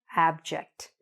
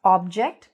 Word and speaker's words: abject: Not "object", but "abject", okay? There's an A there, there's a short A sound when we say the word: abject, okay? Don't be afraid to open your mouth, say abject.